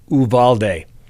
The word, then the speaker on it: Uvalde: That's the Spanish pronunciation. That's right. I've got this from reliable sources. It's pronounced Uvalde.